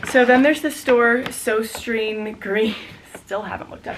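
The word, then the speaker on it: Søstrene Grene: So then there's the store so green. Still haven't looked up how to pronounce. And the proper way to pronounce it in Danish is susten.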